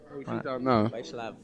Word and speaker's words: Vyacheslav: Is that Is that how you pronounce it? Vyacheslav. Yeah, I spoke to his mum the other day, and that's what she told me.